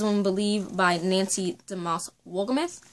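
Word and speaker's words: Wolgemuth: to be Lies Won't Believe by Nancy DeMoss Wolgumeth, right?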